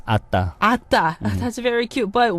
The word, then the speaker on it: ADDA: Called ADDA, but in Korean you can pronounce Atta.